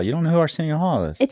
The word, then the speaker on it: Arsenio Hall: Dar Springer AR Arsen how do you say aren Hall you don't know who Arsenio Hall is it sounds really familiar uh he was